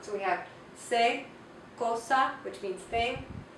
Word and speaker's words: cosa: C, cosa. C, cosa. And here we have another word, cero. Cero makes the soft C sound. Cosa makes the hard C sound.